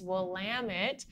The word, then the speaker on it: Willamette: of California and south of Washington and it's will I am it right how to pronounce things and slowly but surely the Oregon